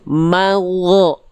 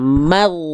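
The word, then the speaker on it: مغضوب: Kalau ditarik lagi jadi gini, magho. Enggak, bukan magho, tapi lempar suaranya. Maghdubi.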